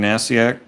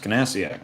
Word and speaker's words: Nasiak: Duval and Nasiak, Nasiak. The K is silent, as in Niffin, I'm sure. Maybe it's Kanasiak. Sometimes weird stuff like that happens.